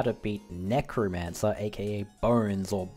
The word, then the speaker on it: Bonz: going to learn how to beat Necromancer AKA bones or bonds as it's spelled in three turns and of course if